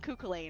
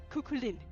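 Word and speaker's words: Cú Chulainn: times for me cuz I was calling him cuckuain. And he's like, "No, it's Lynn. It's Lynn. Cukulin or Coolin."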